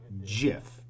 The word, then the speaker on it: GIF: gif has deemed it pronounced as jiff with a j like the peanut butter jiff other people disagree so